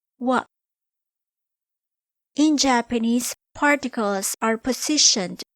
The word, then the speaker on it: は: The hiragana ha, when used as a particle, is pronounced as wa.